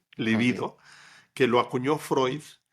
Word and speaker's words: libido: Líbido es una barbaridad. Esa palabra no existe. Ok. El concepto era libido, sin acento en la primera, libido, que lo acuñó Freud.